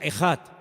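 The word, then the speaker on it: אחד: Y esa palabra, el Señor nuestro Dios es uno, es una palabra que se pronuncia ejad.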